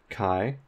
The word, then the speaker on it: chi: this is pronounced or it's written Chi it's pronounced Kai so we use this